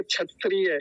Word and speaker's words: क्षत्रिय: क्या बोलते हैं क्षत्रिय बचपन में यही सिखाया गया हमको क्षत्रिय क्षत्रिय नहीं होता क्षत्रिय क्षत्रिय ऐसा बोलते हैं उसको तो यहां क्या